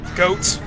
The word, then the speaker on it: Goht: mask mechanical Monster uh goat or got I guess whichever way you want to pronounce it I usually go with goat because you know a goat is a four-legged animal just like him so well that's what